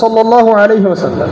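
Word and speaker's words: صلى الله عليه وسلم: এবং শুদ্ধ উচ্চারণে পড়বেন। অনেকে সালাম এরকম করে পড়ে, হতভাগা, একটা দরুদও পড়তে পারে না। সুন্দর করে বলবেন সাল্লাল্লাহু আলাইহি ওয়াসাল্লাম। একবার বললে 10 নেকি, 10টা গুনাহ মাফ, 10 বার আল্লাহ পাক রহম করবেন।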